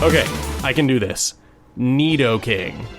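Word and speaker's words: Nidoking: I can do this Neo king that's how you say it right I mean I spent like 14 years saying nighto King and it wasn't until I read YouTube comments from you guys that I realized I had been saying it wrong but anyway can this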